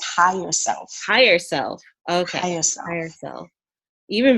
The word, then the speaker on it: Hier Self: a really powerful and awesome so it's actually pronounced hi yourself higher self okay is higher self even better can you